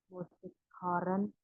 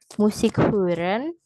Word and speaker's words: Musik hören: Tanzen, 7 Joggen, 8 Musik Horen, 9 Inogehen, 10 Lesen. Oke, good. Danke. Hanya sedikit kurang tepat pada pengucapan musik hören, lalu ins Kino gehen.